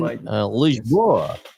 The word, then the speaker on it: Lisboa: So we'll do Portuguese pronunciation. You and me can be weather girls this morning and see if it's raining men. Lisboa. Lisboa.